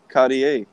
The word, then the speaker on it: Cartier: I saw this and even listen to it Cartier that's how you pronounce it yeah it's a body a card